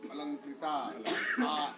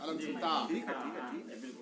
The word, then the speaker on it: अलंकृता: उच्चारण करिए अलंकृता, यहाँ तक स्वर जाता है और अंदर से यहाँ तक अलंकृता, स्वर यहाँ तक जाता है तो मानवर्धन।